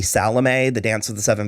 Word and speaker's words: Salome: epic about salome which they salomi they pronounce like salami the whole time and i find it upsetting yeah maybe i'm wrong i've always known it to be salome the dance of the